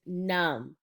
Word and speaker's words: numb: Our next word is numb. Let's read the word together. Numb. So as you can see, the word numb does have the letter B at the end, but it is silent.